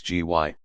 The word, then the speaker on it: Gy: word for woman is gy pronounced hard as in guy it forms itself into